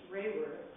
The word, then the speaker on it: Raworth: at a teacher who insisted he put a y in his name as it is pronounced rayworth he then ran away